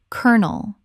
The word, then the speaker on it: kernel: Word 277, kernel. Already covered but worth repeating because it is so extreme. Kernel, two syllables, rhymes with colonel.